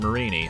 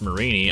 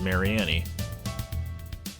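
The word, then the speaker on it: Mareanie: the gen7 Pokemon Marini I had no idea was pronounced Marini I always thought it was Mary Annie it was only until I saw the anime where I realized I was actually pronounced Marini which but I realized you know what that makes sense because it's a meanie and it's a marine creature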